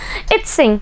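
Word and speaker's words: Yijing: इक्विंग आए हैं, और यू can pronounce इत्सिंग। Okay, so pronunciation का डिफरेंसेस मिलता है, बट यहाँ पे आपकी जो बुक में इन्हें प्रोनाउंसिएशन दिया है इक्विंग है।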